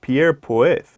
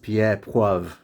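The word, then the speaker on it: Pierre Poivre: tricked terrible then in 1770 a frenchman named pierre poith that's pronounced pierre puev which is ironic because it means pepper and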